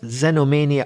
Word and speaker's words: xenomania: let's move on to zenomenia Zeno beginning with the letter X there aren't many words which begin with the letter X in English as well as xenomania of course we got